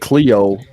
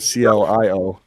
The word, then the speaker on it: Clio: to the Clio it's they keep calling it Cleo can his cup with his Clio okay well I'm out of pronounce it we're all sorry uh everybody's tense Cleo I don't know why it's not steal yo it CLI oh but yeah it's called